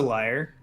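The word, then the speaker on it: lyre: um and I foret is it pronounced Lear or liar the uh the instrum a liar liar l y r e I think I think it's a liar either way the harp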